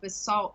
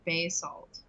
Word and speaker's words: basalt: and then lee um you guys are saying basalt wrong it's ba salt nut bay salt done changed basalt basalt